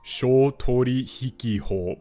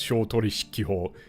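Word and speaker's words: 商取引法: But if you just read that out with syllables, you would think it was Shoutorihiki-ho, but it's not. It's Shoutorishiki-ho. It's like unvoiced on the he.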